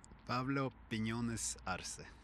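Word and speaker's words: Pablo Piñones Arce: Pablo Pinones Arce.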